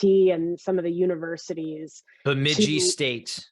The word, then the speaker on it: Bemidji: Bemidji State. Bemidji State, thank you. Took me like a year to learn how to pronounce that.